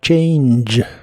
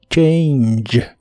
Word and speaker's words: change: de inglés es change la a se pronuncia como e i y la g del final se pronuncia como J J que es como